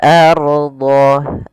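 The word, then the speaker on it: الأرض: Al maka lakumul lakumul ardho ardho a kemudian pelfal Ardha di sini rnya kita baca dengan tafkhim Ro tafkhim Apa itu ro tafhim ro tafhim yaitu ro tebal untuk ro sendiri memiliki ada 14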